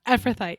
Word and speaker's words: Ephrathite: It says, what is the significance that Elimelech was an Ephrathite? Did I say it right? Ephrathite, yeah.